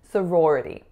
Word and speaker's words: sorority: so similar to fraternity sorority has four syllables and two choir's so sororo we have s schwa so roar and then rah so another are going into a schwa and an alveolar flap going into an e sorority the next word is